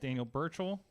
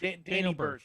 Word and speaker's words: Danny Burch: Daniel Burchell. Is that the right name? Am I adding some syllables there? I don't know. Daniel Birch. Danny Burch. Danny Burch. Thank you.